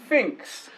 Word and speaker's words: Phinx: Installs with Composer, it's easy to use, it's difficult to spell, it's also difficult to pronounce. Just call it Ant. We're getting there though, Phinx.